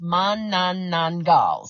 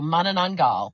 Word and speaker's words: Manananggal: So the word Manananggal, and it's Manananggal. So Manananggal, and that's the correct pronunciation.